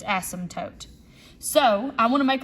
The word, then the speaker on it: asymptote: It's spelled funky, so people don't know how to pronounce it, but the P is silent, okay? So it's asymptote.